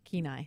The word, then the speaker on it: Kenai: the tsunami warning area Kenai which CNN couldn't pronounce ke nai in the Kenai Peninsula sounds like Kenai to me yeah and so but